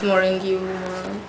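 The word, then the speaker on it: Marongiu: I call it the Marcel palette because I don't know how to pronounce his surname. It's Marongu.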